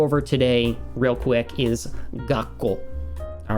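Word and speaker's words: がっこう: It's going to sound like I'm holding the tone here before I continue, right? There's a little bit of a pause. So this one's going to sound like gakkou.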